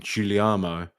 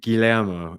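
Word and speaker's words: Guglielmo: So, Guillermo, as he said, I've always been saying Giuliano, but Guillermo, he said in they get the players to pronounce their names.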